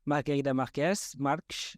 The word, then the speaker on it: Margarida Marques: So it's officially Margarida Marques, I think if you pronounce it properly in Portuguese.